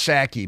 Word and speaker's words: Psaki: last night she says it's pronounced saki but there's a there's a p on the front wonder what happened when she gets pneumonia she what do you think but Jen saki last night was on